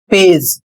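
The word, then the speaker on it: page: इसे पढ़ेंगे पेज।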